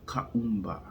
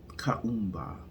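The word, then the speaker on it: Kuumba: you about day 6 of Kwanzaa, which is pronounced Kaumba. Kaumba.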